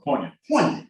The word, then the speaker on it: poignant: for a coach to recognize that was very poignant. Yeah, poignant. Yeah. Oh, that's what it spelled. I think it's spelled like poinsettia.